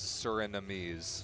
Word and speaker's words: Surinamese: The word is Surinamese. Surinamese. Surinamese. Okay. So we'll get the person who like gave me the phonetic spelling in the YouTube chat yesterday was wrong, because there was only 3 syllables in that one.